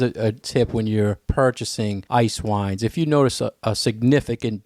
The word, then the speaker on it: Eiswein: and the German ones it sounds like ice wine it's spelled a little bit differently so it is spelled